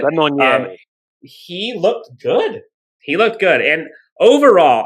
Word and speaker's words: Lemonnier: Overall, I think, a couple of the guys, Jake, I like to call him Jesse Lemonade, but Jesse Lemonnier, I believe is how you pronounce it. Lemonnier.